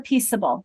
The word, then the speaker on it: peaceable: So, Diane, you said yes, I would drop the E for peaceable. Read that word. You need to keep the E Why? because it changes the pronunciation. Of which letter? The C.